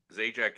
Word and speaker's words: Zajac: The right Zajac is the right. You're real close. Okay.